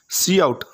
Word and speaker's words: cout: Cout, pronounced C out, is an object used together with the insertion operator, that's double less than operator, to output or print text.